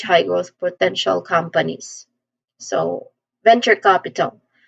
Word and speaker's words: venture capital: So venture capital pronunciation wise first syllable ven there's a short e a vowel sound here this part has the first stress and then we say chure with a ch sound in the beginning just like church you just say chure